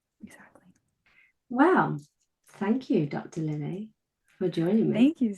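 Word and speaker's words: Lillea: So, Dr. Lily, but it's spelled a little odd. So, um, L I L L E A.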